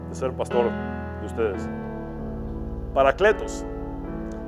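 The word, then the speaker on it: παράκλητος: Parakletos, cuya pronunciación en griego es parácletos.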